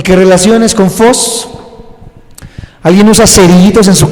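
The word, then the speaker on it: φῶς: de que lo apunten, es phos, pero se escribe PH, en vez de F, PH, y esa es la palabra phos en el griego. Ya de ahí escribes OS, phos, PHOS, phos.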